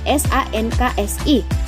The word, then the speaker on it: sangsi: Yang kedua ialah SANGSI dan SANKSI. Sama-sama dibaca sanksi, tetapi yang satu berarti bimbang, yang satu artinya hukuman.